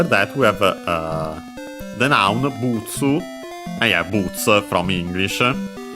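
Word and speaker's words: ブーツ: And yeah, as mentioned, after that we have the noun butsu, and yeah, boots from English. Let's quickly check its accent. Yes, accent on the first syllable as expected, just like in English.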